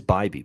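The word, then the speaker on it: Bibee: It is Bybee, by the way. Bybee, Tanner Bybee.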